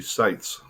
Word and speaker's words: Seitz: under the understanding that in german the e i is pronounced i if it was i e it would be be pronounced e so seitz would be sites consequently r-e-i-t-z would be